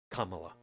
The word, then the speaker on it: Kamala: check my head before Kamala yeah two it's three syllables two letters each Kaa yeah the way